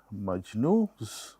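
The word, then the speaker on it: Majnu: in a romantic relationship we call it maju this n is silent and laa so we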